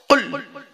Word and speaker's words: কুল: খবরদার নয়, উচ্চারণটা ঠিক রাখুন। আল্লাহ বললেন কুল, নবী তুমি বলো, হু আল্লাহু আহাদ, সে আল্লাহ হলেন একক।